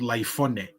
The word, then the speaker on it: Laifone: the rifles were called Laifone. One of Taufa Hau's sons, Prince Laifone, that's what Laifone means. It was the original name of rifle. Rifle. That's how they pronounce rifle.